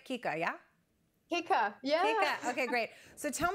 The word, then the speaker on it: Keiko: you know the basis and the premise behind Kika Naturals am I saying it right Kika yeah hika yeah okay great so tell me how this